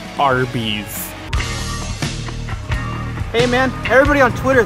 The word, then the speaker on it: Arby's: call the roast beef sandwich fast food restaurant Arbiss. And I say, yes, that's correct. Then Gaddafi says, well, in Earth 1, it's pronounced Arby's.